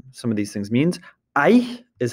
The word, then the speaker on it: Aïe: Aïe is how you say ouch in French.